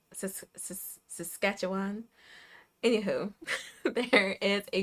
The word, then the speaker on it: Saskatchewan: Um, there is an organization in I looked up how to pronounce this Saskatchewan, right? I looked up how to pronounce this, too. And I was practicing all day. S Yeah, Saskatchewan.